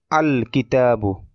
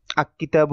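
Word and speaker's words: الكتاب: যেমন কিতাবুন থেকে আল কিতাবু আক কিতাবু এরকম হবে না। আল কিতাবু লামটা স্পষ্ট এবং আলাদাভাবে উচ্চারিত হবে।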